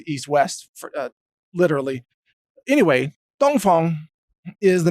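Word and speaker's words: Dongfeng: dong Fong missile now a lot of Americans see that word and they actually pronounce it like dong Fang or dong Fang or something anyway because I speak enough Chinese to know that it's actually east wind and Fong is wind like Fong Han Tommy's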